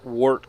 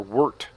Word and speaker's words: wort: hop off, cool our wort. I keep saying wort. I guess it's pronounced wort. W-E-R-T.